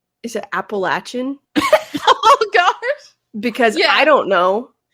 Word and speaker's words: Appalachian: I looked it up and it said that it's truly supposed to be Appalachian.